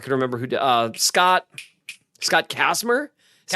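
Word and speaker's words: Kacsmar: Scott Kasmer.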